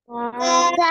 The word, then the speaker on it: ت: একসাথে জোরে জোরে বলেন তা মাশাল্লাহ মাশাল্লাহ ওকে এই যে তা অক্ষরটা এই অক্ষর আপনি নরম করে উচ্চারণ করতে হবে তা সা মাশাল্লাহ মাশাল্লাহ